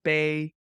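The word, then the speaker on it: 杯: it's called bay. Bay that's in Mandarin and boy Okay. in Cantonese and it means sad. Like cup. It Oh, sounds like the word sad.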